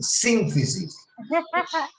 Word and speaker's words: sínfisis: La tilde está en la primera ahí. Sínfisis.